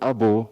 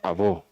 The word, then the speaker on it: Abo: It's pronounced Abo or Abo.